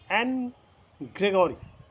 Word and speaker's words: Anne: the poem is for Annie Gregory or the difference of opinion is that the pronunciation is n Gregory you may call it any Gregory or n Gregory whatever may be the case you should first know